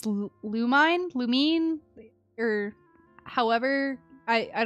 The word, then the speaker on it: Lumine: I heard lumine pronounced I know it is lumine and I do say lumine I have heard some people say Lumin and I'm like no that that's not it yeah it's I say lumine which I know is the right way to say her name but I'm I hear some I've heard Lumin before and I'm like who are you talking about she longed to live